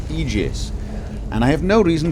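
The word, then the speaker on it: aegis: the eus of life I am reliably told that this is in fact pronounced egis and I have no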